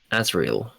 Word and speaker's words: Azrael: Ozrael is not the same as Israel. It's a different It's Yeah, but Azriel. Yeah. Oh, that's how he pronounces it.